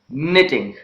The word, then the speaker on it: knitting: word it becomes silent whenever the letter K precedes the letter n at the beginning of a word it becomes silent let's take the examples